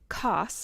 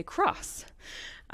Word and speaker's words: Coss: of my band because people often mispronounce my last name coss and say cross so we like to